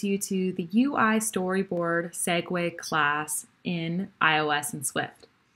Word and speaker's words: segue: be spelled out perhaps i think it should be spelled out more like uh the segway scooters that you can see